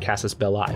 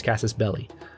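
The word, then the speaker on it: casus belli: belly everyone pronounces it Cassis belli but it's Cassis belly um there's a Cassis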